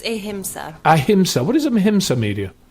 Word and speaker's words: Ahimsa: with how do you say AA media it's ahima ahima what is Aima media um AA media